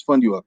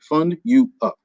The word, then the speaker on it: FUNDUUP: The name of my company is Fund You Up, FUNDUUP, Fund You Up.